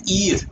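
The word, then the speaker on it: heir: एन ईर, ईर का मतलब होता है वारिस, ठीक है। तो ये भी ई से पढ़ा जा रहा है, तो ई किस में आता है?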